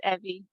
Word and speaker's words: Evie: Evie, am I pronouncing that right, or is it Evie? Got it. It's Evie. Evie, perfect.